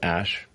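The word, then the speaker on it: Æ: x um and then the a e is like pronounced ash yeah and then a12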